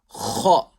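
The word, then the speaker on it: خ: Next letter, kha. That's a full mouth letter. So kha, pronounced harshly with a full mouth from that part of the throat nearest to the mouth.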